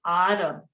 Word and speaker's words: Arab: Arab begins with the letter Ain, so it's really Arab.